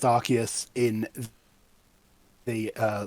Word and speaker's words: Arceus: pronunciations are legitimate apparently the reason that it's pronounced arceus in the uh like anime and stuff in